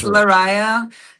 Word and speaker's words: Lariyah: Did I did Did I pronounce it okay? Cuz I hate If Oh, no worries. It's Larisa, and the band's name is Devinwahr.